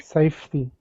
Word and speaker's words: safety: Okay, safety. That's it, 2 syllables.